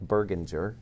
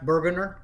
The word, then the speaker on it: Burgunder: ahead and meet berginger i hope i pronounced that correctly uh thank you so much for being here miss pronounced burgunder okay burgunder burgunder okay very good well my